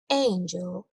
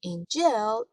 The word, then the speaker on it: angel: مثلا در کلمه angel همطور که مشاهده میکنید استرس کلمه روی هجای اول هست angel. اگه بگیم angel اشتباهه.